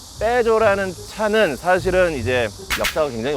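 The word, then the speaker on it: Peugeot: 유럽 발음으로는 푸조라고 하지 않습니다. 외국 가면은 푸조라고 하면 못 알아들어요. 뭐라 그래야 돼요? 다 같이 빼줘.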